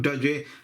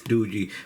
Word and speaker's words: Doogee: I'm pronouncing that right it's not doy and it's not Doogie I hope it's DOI but this is the